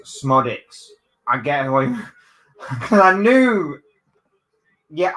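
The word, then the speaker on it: Szmodics: oh okay so Balon in case you're watching it's smodic I get I knew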